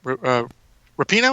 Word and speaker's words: Rapinoe: I was really only aware when Megan Rapinoe, is that how you pronounce that?